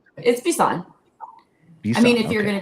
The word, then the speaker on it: Bisson: I want to pronounce it that way. It's Bisson, right? It's Bisson.